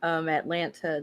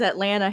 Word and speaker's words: Atlanta: I heard somebody else say it, I said Atlanta. Atlanta. It's right. I grew up in Jacksonville, Florida, so I'm from the South, and you're right. You don't pronounce the T all the time.